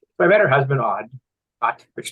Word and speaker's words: Odd: So I met her husband, Odd. which is spelled ODD.